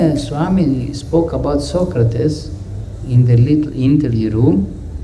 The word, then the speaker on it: Socrates: Swami said to an interview Socrates is not the right pronunciation. The right pronunciation is Socrates.